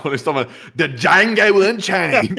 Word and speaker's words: Django: He's talking about the Django Unchained. It's like, what the hell are you talking about? Someone said the D is silent, hillbilly.